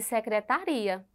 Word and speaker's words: secretaria: exemplo no mesmo slide Olha só secretária e secretaria veja como tudo muda né então Observe é a mesma palavra na escrita mas a sílaba tônica muda e nós precisamos Observar